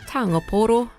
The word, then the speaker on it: pūoro: And the first question I asked him, if I was pronouncing the word taonga pūoro correctly. You are correct, it's taonga pūoro, and taonga pūoro basically